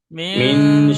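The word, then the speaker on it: مِنْ: নুন সাকিনের পরে হরফে ইকফার 15টি অক্ষরের মধ্যে সিন এসেছে, তাই নুন সাকিনের আওয়াজকে নাকে তুলে একালিক পরিমাণ গুন্না করে পড়তে হবে, একে ইকফা বলে।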